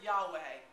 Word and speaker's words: Yahweh: this some yes yes it's sometimes pronounced as the non word Yahweh which then became Jehovah we can date that